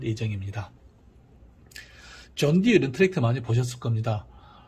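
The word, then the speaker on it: John Deere: 그래서 발음은 존 디어 디어 똑같지만은 사실은 사슴은 아닙니다.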